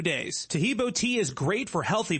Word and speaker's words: Taheebo: Taheebo is spelled T like Tom, A-H-E-E-B like boy. Oh, that's Taheebo, and then continue with the word tea and then the word club.